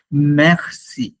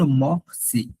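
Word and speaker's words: merci: মেরসি, মেরসি, আমরা তো জানি ই হচ্ছে উ, তো এটা আমার হওয়ার কথা ছিল মক্সি, এরকম হওয়ার কথা ছিল,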